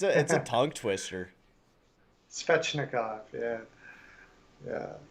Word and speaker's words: Svechnikov: Another big hit there from Shevchnikov. Always say his name wrong.